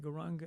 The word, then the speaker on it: Gauranga: And for this particular meditation technique, we divide Gauranga into 4 syllables. Go, Ra, Ang, Ga.